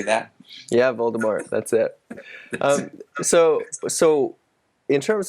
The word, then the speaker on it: Voldemort: Yeah, Voldemort.